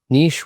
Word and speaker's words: niche: Um, niche rhymes with kiche and should stay in France is one counterintuitive opinion.